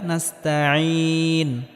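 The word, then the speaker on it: نستعين: এখানেও আইনটিকে গলার মধ্যে হালকা চাপ দিয়ে উচ্চারণ করতে হবে। ইয়াকা নাবুদু ওয়া ইয়াকা নাস্তাইন।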